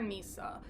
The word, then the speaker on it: Nissa: a girlfriend named Nissa I'm going to call her Nissa because her name is spelled like Lisa but with an N instead of an L so I'm making that